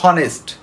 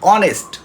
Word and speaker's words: honest: যায় পড়তে বসে বলে হনেস্ট নো ইট লবি অনেস্ট ওসটি শুধু ওনসটি উচ্চারণ হবে আর এইচ এর উচ্চারণ আসবে না তদ আবার আবার যদি